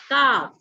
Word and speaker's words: calf: Calf. Calf. Calf. Say calf. Prathamesh, calf. Calf. Calf. Now here what happens, you know, when we say calf, we don't pronounce L because L is silent.